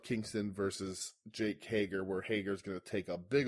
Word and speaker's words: Hager: But it sets up Kingston versus Jake Hager, where Hager's going to take a big old L on a rampage. Yeah, you're not saying it right. It's Jake Hager.